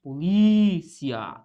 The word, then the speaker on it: polícia: Qual que é a sílaba tônica aqui? É o li. Polícia.